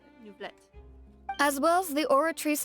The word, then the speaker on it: Neuvillette: So that's how you say his name, Neuvillette.